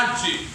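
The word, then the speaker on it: ἀρχή: La palabra dignidad en el griego es la palabra archi. Archi. Se escribe arche, pero se pronuncia archi.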